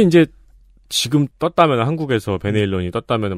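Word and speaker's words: Van Halen: 이제 소개가 되고 그랬는데 밴 헤일런 이라고 부르지 않고 반 할래 이라고 부릅니다 방송 했어요 특히 그 발음을 열심히 밀어 주시는 분이 계세요 어 논리가 이렇습니다 네덜란드 사람이니까 네덜란드어로 불러야 된다는 거예요 이렇게 두개 예 90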